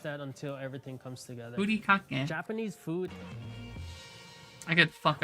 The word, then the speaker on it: furikake: You realize the way it's supposed to be pronounced in Japanese and the way that fucking like gormless Americans would pronounce it is different, right? Like, what would you say? Fury cake? Fury kake? But in Japanese, it's furi kake. Like, using their own fucking vowel system. It can only be said one way because their fucking vowel system is very strict in how it's like pronounced.